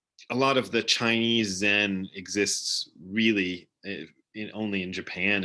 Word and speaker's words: Zen: just different word it's there's a chinese character that is pronounced uh chan in in chinese and zen in japanese and it represents a